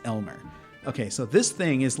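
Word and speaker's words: Aylmer: a yl Amer Alma but it's pronounced Elmer okay so this thing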